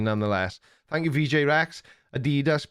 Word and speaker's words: Adidas: Sorry, Americans, but in the UK, it's Adidas. Apart from all the young hipsters that are Americanized and say Adidas and Garage and other Americanisms.